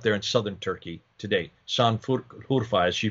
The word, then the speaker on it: Şanlıurfa: That is today called Şanlıurfa. Am I pronouncing that correct? Şanlıurfa. Merkezi. That's your country. Yeah, Şanlıurfa.